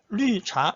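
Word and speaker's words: 绿茶: 됩니다 지교 무조건 따라하십시오 리할 때 아 위 발음이에요 위 한국에 넘는 바람이죠 입술 동그랗게 입술에 힘을 주고 리자 해보세요 리자 한국 억지로 어리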